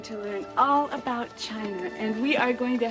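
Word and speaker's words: Qin: the Great Wall of China was designed by the emperor Quinn whose aspirations Excuse Me Miss Seymour it is pronounced chin oh thank you Mr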